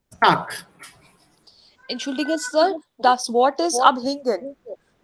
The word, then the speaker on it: Tag: So, if you have Bad, But genau. So that becomes Bat. And if you have here Tag. Tag, this becomes Tak.